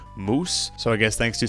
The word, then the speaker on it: muOS: of my videos that it's pronounced moose, so I guess thanks